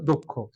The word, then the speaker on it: দক্ষ: বদ্ধাকার দক্ষ আমরা বলছিলাম যুক্তবর্ণ থাকলে শেষ বর্ণটার সাথে কি আসে উকার আসে দক্ষ সঠিক উচ্চারণ হচ্ছে দক্ষ এবার আসি মেরিনময় যে